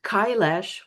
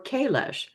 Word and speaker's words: Kailash: And of course the universe had uh plans or directed me because I stumbled across Mount Kailash or Kailash. Apparently, both pronunciations are correct.